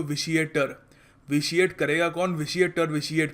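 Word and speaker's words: vitiate: और इसको प्रोनाउंस करने का तरीका भी याद रखना, कुछ लोग पता नहीं क्या कुछ और बोलते हैं, विटिएट कह देते हैं इसको, इट्स प्रोनाउंस्ड विशिएट।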